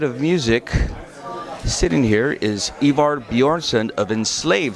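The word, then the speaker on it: Ivar Bjørnson: very interesting night of music sitting here is ivar bjornsson of enslave how you doing i'm doing great thanks how are you did i pronounce that properly because i'm notorious for butchering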